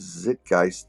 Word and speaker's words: zeitgeist: most of the time the word is zit geist and it's spelled yet z-e-i zeitgeist guys well it says zit geist in the pronunciation guide so i did look